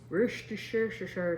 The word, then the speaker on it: Worcestershire: So I always said Worcester sauce because it's that place from Boston with shire and sauce at the end.